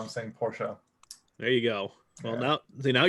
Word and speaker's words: Porsche: being paraded on social media about how insane Porsche there you go well no see now you're